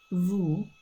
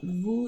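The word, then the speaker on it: vous: Um and then we have vu which is um formal and plural. So vu is spelled v o u s.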